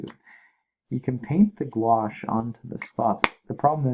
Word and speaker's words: gouache: Which is a material, you spell it Gouache, gouache.